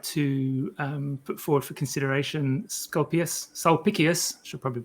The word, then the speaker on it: Sulpicius: Sulpicius. So C's are pronounced as K's in Latin.